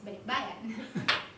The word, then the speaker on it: balikbayan: it, which is supposed balikbayan, or then the British would say it. But that would be very strange just to have those two, when in fact the pronunciation is balikbayan.